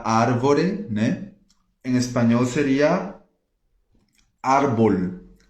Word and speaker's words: árbol: Em espanhol seria árbol. Árbol tem um acento no A, mas eu já ouvi gente falando arbol, arbol, né? E não, é árbol.